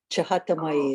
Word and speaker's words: Chahatamai: Actually, my name is Chatamai, Chata Mai. Chahatamai is the correct pronunciation.